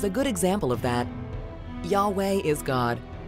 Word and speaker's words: Yahweh: Scripture they are in actual translations or even pronunciations the word Yahweh is a good example of that Yahweh is God it's the God of the Jews